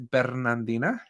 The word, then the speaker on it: Bernardina: But it is Bernardina. And you got to roll the R.